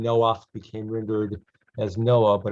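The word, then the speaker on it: נֹחַ: read as normal uh people pronounce it as noah but in hebrew it's noah you know the man who had the floating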